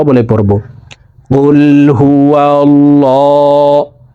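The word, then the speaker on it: قُلْ: জিব্বার গোড়া তার বরাবর উপরের তালার সঙ্গে লাগাইয়া উচ্চারণ করে পড়িতে হয় তো এই পেশওয়ালা কফটি জজমওয়ালা লামকে একবার ধরবে কফ লাম পেশ কুল কুল হা পেশ হু ওয়াও লাম জবর ওয়াও লাম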